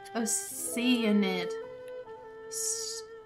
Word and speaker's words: Oceanid: Oceanid.